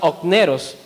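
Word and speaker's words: ὀκνηρός: En el griego, esta palabra negligente se pronuncia okneros.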